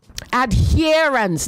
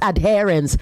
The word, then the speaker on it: adherence: You also say adherence, not adherence. Adherence, okay?